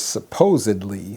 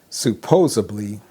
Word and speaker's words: supposedly: use incorrectly is the The right word is supposedly. Supposedly. For example, hey, supposedly John and Maria started dating. Hey, supposedly John and Maria started dating. But a lot of times people will say this. They will say supposably, instead of supposedly. They say supposably, and that's incorrect.